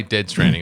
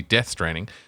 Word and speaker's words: Death Stranding: yeah I did say dead training I did say it wrong it is it's supposed to be death straining death straining two was